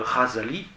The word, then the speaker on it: Ghazali: Et alors, vous avez cette parole tout à fait inouïe de Ghazali, un grand philosophe du XIe siècle, G-H-A-Z-A-L-I, ça se prononce Ra, c'est le Raïn en arabe, qui a été